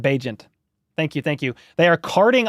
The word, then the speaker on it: Bagent: Yeah, let me know how to pronounce his name. Badgent. Bagent?